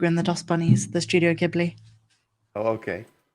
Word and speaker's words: Ghibli: Yeah, he said he thinks it's Grogu and the Dustbunnies, the Studio Ghibli. Oh, okay. Or as he Well, pronounces it, Studio Jiggly.